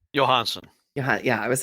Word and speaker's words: Johansson: Johansson how do you say his last name Johansen yeah I was like I don't want to